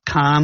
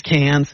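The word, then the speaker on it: Cannes: about the can Festival a lot of people think it's pronounced Khan like James Khan and it's not a lot of think people think it's plural like a six-pack has six cans it's not it actually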